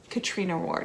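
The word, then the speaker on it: Catriona Ward: on needless treat like katriana ward katrina ward is how you say it um i don't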